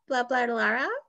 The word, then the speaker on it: BlablaLara: I want to pronounce it with BlablaLara. BlablaLara.